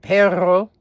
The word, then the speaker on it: perro: It's like in Spanish when you pronounce the double R, like in the word perro. You have to twirl your tongue.